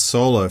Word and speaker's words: Soulo: So it looks like Soulo, but it's pronounced Solo for your surname.